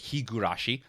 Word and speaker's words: Higurashi: Higurashi award now I understand that it's been mispronounced cuz it's Higurashi but this was the start of me mispronouncing